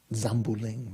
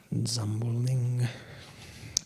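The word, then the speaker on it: འཛམ་བུ་གླིང: How do the Tibetans pronounce that, you know? Zambuling, right? Zambuling.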